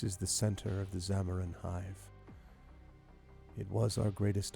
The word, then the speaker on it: Xamaron: And the Zamaron is spelled Xamaron, in case anyone's curious.